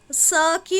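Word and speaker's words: sake: इसको शेक नहीं शेक शेक pronunciation करेंगे क्योंकि इसमें एस के बाद एच नहीं है तो इसको इसकी जो प्रोनंसिएशन होगी वो स की होगी ना कि श की क्लियर?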